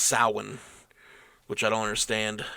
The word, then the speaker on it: Samhain: It's Samhain, but it's pronounced Samhain, which I don't understand how that translates.